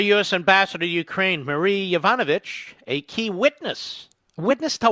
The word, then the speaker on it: Yovanovitch: Yovanovitch. Have you ever heard of Yovanovitch? It rhymes with Yvonne Snitch, I would say. Yvonne Litch. Yvonne Skitch. Anyway, Yovanovitch.